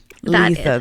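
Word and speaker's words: Litha: Uh not Thursday but the following day is um um Letha. That's how it's pronounced.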